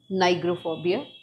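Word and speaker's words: pnigophobia: इसका सही आंसर है नाइग्रोफोबिया। पी मतलब साइलेंट है यहां पे।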